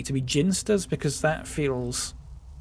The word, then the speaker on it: Ginsters: Apparently ginsters is pronounced with a hard G and that's simply incorrect.